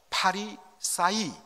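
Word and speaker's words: Φαρισαῖοι: 알 필요가 있습니다 바리새인 바로 파리사이 이렇게 헬로로 발음을 하는데 이것은 히브리어 파라시 헬러 표입니다 파라시 헬라어로 표기하다 보니까 바리사이가 된 것입니다이 바리새 우리 한국말로 좀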